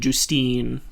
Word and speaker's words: Justine: 22 caroline carolline caroline it's caroline and justine that's how you've pronounced both of their names yeah she's the nicest